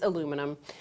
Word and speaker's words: aluminum: No, it's the aluminum, or as the British people say, aluminium. Yes, the British say aluminium, but it's aluminum.